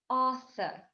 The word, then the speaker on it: Arthur: Arthur. То есть мы звук Р не произносим.